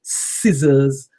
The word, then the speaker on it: scissors: but unfortunately it isn't so these are called scissors the tools you cut with the below it